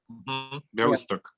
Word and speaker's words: Białystok: And then there is this article in a blog magazine about the situation in Białystok, or how do you pronounce it? Białystok.